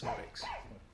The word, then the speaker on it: Szmodics: Yeah, so the Z's basically silent, so it's Szmodics.